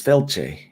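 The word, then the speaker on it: Fáilte: that i got and if you were to look at it you would think it says faith spelled a little odd but it doesn't it says felche which means welcome and what i'm talking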